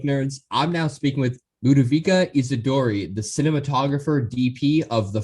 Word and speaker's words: Ludovica Isidori: First of all, good call on my name, which is LUDOVICA Isidori. Your pronunciation was perfect.